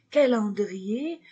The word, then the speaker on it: calendrier: le calendrier le calendrier je ne prononce pas le R calendrier le GAN le GAN